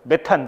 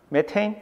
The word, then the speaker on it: 메테인: 메테인? 메세인? 메탄. 메탄은 약간 나이가 든 거고 메세인이 조금 영한 건데 다 메세인이었었죠. 그죠? 메테인, 뷰테인. 그 미국식 발음 메세인, 뷰세인.